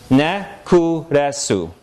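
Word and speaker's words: ネックレス: Can ka be a coda? No, right? Because she didn't say neck. She stuck in a vowel that wasn't there in order that ka could be somewhere other than a coda.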